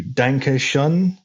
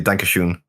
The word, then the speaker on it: Danke schön: Bueller is there lip syncing and dancing to Danke Schön. I don't know if I pronounced that right. That's German. Can't kill me. I said it wrong. Wayne Newton. I can save you. Danke schön.